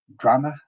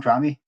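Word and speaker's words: Drammeh: And Drameh, I think is how you say his name, Drameh, is it?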